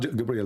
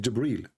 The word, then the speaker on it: Jibreel: It's not Gabriel, by the way, it's Jibreel.